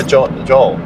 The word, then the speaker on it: Joel: They're like, hi, John. I'm like, no, Joel. Hey, John. You've got to. I've found that I have to pronounce the L sound a lot more.